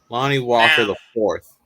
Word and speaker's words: Lonnie Walker IV: That IV stands for the fourth. You got to say it right, Hagen. Lonnie Walker the fourth.